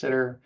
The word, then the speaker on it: STTR: And in general, sometimes you'll hear SBIR pronounced SIBR and STTR pronounced SITR, all the same.